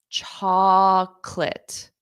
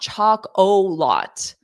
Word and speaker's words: chocolate: did you hear it chocolate so it sounded like two sounds cholate chocolate chocolate it is not chocol lot okay there's no o in the sound it's two syllables chocolate repeat after me